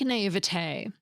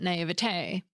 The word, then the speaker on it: naïveté: Take naivete. It has two dots over the letter I, called a diaeresis, that tell us to pronounce the I and V as separate sounds, not as one smooshed together sound.